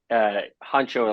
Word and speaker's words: Honcho: Honcho, pronounced Honcho like the rapper, Huncho, is half Shih Tzu, half Bichon.